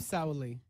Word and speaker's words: Sauli: Because I am Sauli.